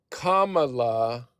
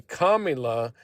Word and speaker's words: Kamala: If if I say Kamala, then y'all don't get like torquked. If I say Kamula, then y'all get torquked. So, it's like a way of saying orange man bad, you know, like like purposely mispronouncing her name.